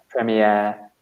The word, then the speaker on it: premiere: Yeah, I guess it comes from the French. So we stress the last syllable, like an air, premiere.